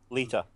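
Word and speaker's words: Leeta: I Haven watch what liter liter liter like like a liter of milk pretty much that's how it's pronounced okay leaving that alone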